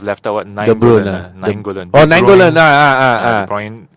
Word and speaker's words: De Bruyne: De Bruyne. How do you pronounce it? De Bruyne or De Bruyne?